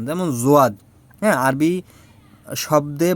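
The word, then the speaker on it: ضاد: মিষ্টি আছে ওইগুলো দেখবেন অক্ষরটা একটু ভারী ভারী, ঠিক আছে, একটু ভারী উচ্চারণ, যেমন জোয়াদ।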